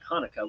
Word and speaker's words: Chanukah: C is silent, just like Hanukkah, which is spelled Chanukah.